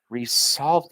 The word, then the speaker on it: resolved: z sounding s try to say this with an S sounding s resolved it resol it would be hard to say right so with a z sounding s it makes it much easier to say great can you share